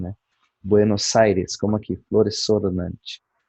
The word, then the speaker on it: Buenos Aires: E quando se pronuncia Buenos Aires, em espanhol, castelhano, enfim, se pronuncia o S com o som dele, de S mesmo, né? Buenos Aires, como aqui, Flores Sornante.